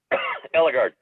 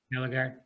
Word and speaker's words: Eligard: Eligard. Eligard.